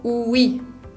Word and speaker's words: oui: Un ejemplo muy fácil de esa pronunciación de la O con U es la palabra oui, que significa sí. Esa palabra oui se pronuncia oui, no O-U-I, sino que la O-U se unen para hacer el sonido U.